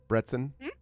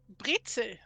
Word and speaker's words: Brezel: Did I pronounce that at all right? Brezen? Brezel. Brezel. Not even the N, huh?